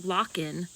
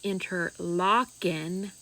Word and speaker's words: Interlochen: Most comments telling me I pronounced it wrong, which I am keenly aware of now and I do know now that it is interlocking.